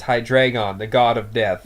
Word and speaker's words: Hydreigon: of death called hydreigon yes that's right it's high drag on the god of death